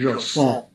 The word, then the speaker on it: JSON: I think probably the correct pronunciation is Jason.